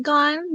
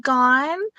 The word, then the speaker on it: Gon: that I was like gone just no e and he's like where's